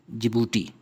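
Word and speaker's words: Djibouti: फिर एक छोटी सी कोस्टल इस्लामिक कंट्री है जिबूती। डी साइलेंट है।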